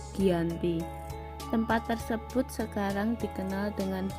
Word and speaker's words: Giyanti: yaitu di desa Janti dalam pelafalan Belanda disebut sebagai jianti dan tertulis yang dibaca sebagai Giyanti tempat tersebut sekarang dikenal